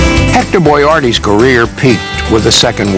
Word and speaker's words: Boyardee: of his name and he wanted to make sure that when he arrived that everyone would pronounce it properly so when he won the can he put it Bo Y - AR - EEE Hector boy Artie's career